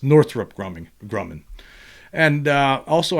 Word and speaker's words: Northrop: release more com content just FYI it's pronounced Northrup uh and he's talking about here is North I I I guess when I'm talking about northr I'm always calling it Northrop Grumman right it's actually Northrup Northrup Grumman so yeah